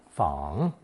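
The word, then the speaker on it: 彷: Today's 4th new character, based on fang, added the partial crossroads radical, making another 3rd tone fang, meaning indecision over possible choices.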